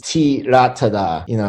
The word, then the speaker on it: Theerathada: Thailand, the H is silent, so it's Theerathada.